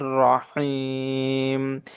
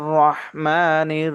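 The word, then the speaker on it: الرحيم: মদ আরজি হচ্ছে মদের হরফের বামের হরফে ওয়াকফ হলে তিন আলিফ টেনে পড়তে হয়।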